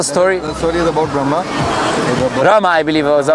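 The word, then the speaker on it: ब्रह्म: then there are Why does it say Brahma then? See, I'll tell you. The main one is called Brahm, not Brahma. Brahm.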